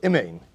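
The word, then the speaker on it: אמן: Ve'omer amen, vutzarch, so we'll say, amen chatufa is where you don't pronounce the first kamatz of amen. Instead, you pronounce it. They call it a chataf. But what they're really referring to is a shva. You say imein. Instead of say you say eh.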